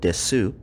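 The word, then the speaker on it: です: are also notice that though the word is spelled desu the ending u sound is underpronounced this is done with several other words that end in su in japanese as well let's try using this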